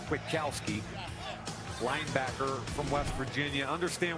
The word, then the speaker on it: Kwiatkoski: 2016 NFL draft the Chicago Bears select Nick kwidakowski linebacker from West Virginia yay go Bears well done well done congratulations have fun Nick is pronounced Witkowski linebacker from West Virginia understand what they're trying